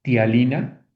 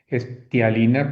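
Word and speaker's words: ptialina: Específicamente se llama tialina. Sí, empieza con P, con P de Pedro y luego T. tialina, pero pues para pronunciar así como que está difícil, ¿no?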